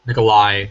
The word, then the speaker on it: Nikolaj: Nikolaj? Nikolai Coster-Waldau.